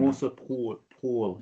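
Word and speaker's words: Moser-Pröll: Annemarie Moser-Proll. I don't know how to pronounce. Is that right? Do you understand? Moser-Proll, if I do the proper German.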